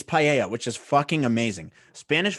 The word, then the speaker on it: paella: It's papaya. I'm saying papaya. Spanish I thought you dish. said it right. Paella, that's what it is.